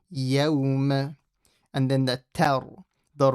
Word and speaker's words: يَوْمَ: So when you say يَوْمَ, don't say يَوْمَ, yo. Make sure the fatha is pronounced properly. يَوْمَ.